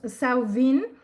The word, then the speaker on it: Samhain: Nuevo Celta, en donde se llama Samhain o Samhain, o sea, depende de el lenguaje, ¿no? Si es de Galia o si es más británico, pero es como lo pronuncian ellos, Samhain.